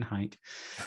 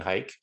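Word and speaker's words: HEIC: care what apple says apple pronounced it heat i'm saying hike let's make hike happen everyone um if you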